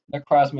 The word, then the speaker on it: Necrozma: Necrozma is the correct pronunciation.